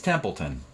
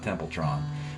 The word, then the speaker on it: Templeton: a bazillion years ago it's templeton i don't want to sound like i don't know the guy's name so yeah it's gary templeton not templetron though i'll be calling him